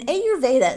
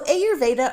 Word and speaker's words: Ayurveda: And in Ayurveda, summer is considered Pitta season. So Ayurveda or Ayurveda, depending on how you hear it pronounced, both of them work for me.